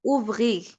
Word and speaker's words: ouvrir: ouvrir, হ্যাঁ ouvrir, এখানে কোনো লেটার সাইলেন্ট থাকবে না, হ্যাঁ লাস্টের লেটার সহ উচ্চারণ আর সহ উচ্চারণ হবে আর কি।